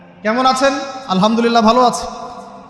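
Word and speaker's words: الحمد لله: আছেন আলহামদুলিল্লাহ ভালো আছি আলহামদুলিল্লাহ না বলে সে বলেছে আলহামদুলিল্লাহ উচ্চারণ পরিবর্তন হয়ে গেছে এই কারণে অর্থ পরিবর্তন হয়ে দাঁড়াবে যে সমস্ত নিন্দা আল্লাহর জন্যে যিনি জগৎসমূহের রব আমার কথা কি বুঝতে পারছেন শুধু হা এর মাখরাজ ভুল হওয়ার কারণে এই সমস্যা হলো তাই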